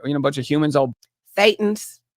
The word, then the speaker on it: Thetans: Or a bunch of thetans that we throw, that all burn, a bunch of humans all Thetans. It's pronounced Thetans.